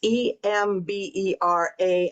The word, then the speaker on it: Emberá: tribe that I married into is called the Emberá. It's Embera, accent on the A.